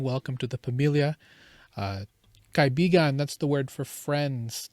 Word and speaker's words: kaibigan: Kaibigan.